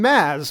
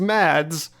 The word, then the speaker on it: Mads: for the cor correct pronunciation of the name Maz which is often pronounced as mads but I know from Mr Mickelson that the